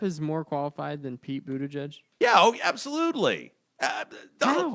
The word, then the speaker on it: Buttigieg: pronounce it. Buttigieg.